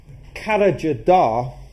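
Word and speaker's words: Karacadağ: at a place called Carriger da and that's not the way that it's spelt that's the way that it's actually pronounced which is a mountain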